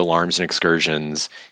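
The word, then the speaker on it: Alarums and Excursions: It's spelled like alarums, but it's Alarms and Excursions.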